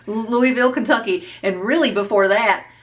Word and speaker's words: Louisville: that it would give me any better than Louisville Kentucky is the right way you say it